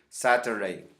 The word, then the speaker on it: Saturday: con la garganta saturn algunas personas normalmente el inglés americano casi no pronuncian late por eso dicen sangre está bien nosotros que hablamos español podemos decirles a los podemos ir saturday es correcto continuamos semana en inglés